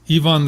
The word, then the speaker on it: Yvan: anyway this is called I don't know if it's pronounced Yvonne or Ivan it's Yvonne the great y-v-a-n Yvonne the great